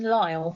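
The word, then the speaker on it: Lisle: Kingston allele and somebody else call it Kingston Lyle I've always known it as Kingston Lyle yes I've never heard it referred to as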